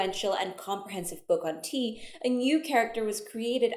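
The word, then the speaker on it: 茶: It's the same character as cha, but it's pronounced te.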